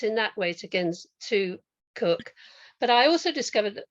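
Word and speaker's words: Koch: know anything about Kenneth who I think is pronounced cook is that right yeah I did nothing about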